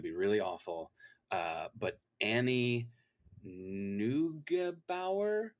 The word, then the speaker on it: Neugebauer: all my street cred because I'm going to mispronounce her name, and it's going to be really awful. But Annie Neugebauer, Neugebauer.